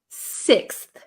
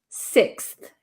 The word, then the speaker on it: sixth: pronounce six uh so no I wouldn't use an F sound here this should be a th sound so um fourth fifth sixth sixth right six okay rur